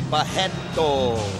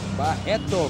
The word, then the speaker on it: Barreto: And the R's in Brazil you pronounce as H, so you will say Barreto. Barreto, Carlos Barreto, 100% Jesus.